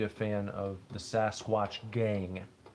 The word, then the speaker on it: Gang: He pronounced all of his words ending in like the NG sound. Ing, ang, ong. If it had like the NG, he wouldn't pronounce the G part. So for instance, Sasquatch Gang, he would have called the Sasquatch Gain.